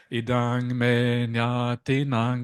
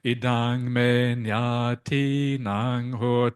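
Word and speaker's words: Idaṃ me ñātīnaṃ hotu: They say idang me nyati nang. That's wrong. It's like this. Idang me nyati nang hotu. There's a long I there.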